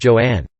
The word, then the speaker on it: Joan: She later said that she wanted her first name to be pronounced Joanne, and that she hated